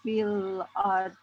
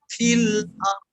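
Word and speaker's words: في الأرض: Jadi ke huruf R dulu, baru do-nya seakan didorong. Fil ard, gitu.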